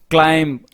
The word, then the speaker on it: climb: Monkey, summer, climb, autumn, palm. In climb, B is silent, as in comb, bomb, tomb.